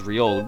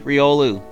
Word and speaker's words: Riolu: that I breed up and this month is ryeol but again going week into February I said it right this time you are gonna get a chance for riolu if you join up as a member between